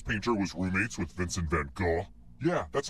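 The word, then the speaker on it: Van Gogh: again which famous painter was roommates with Vincent Van go yeah that's how you pronounce his name I was an art major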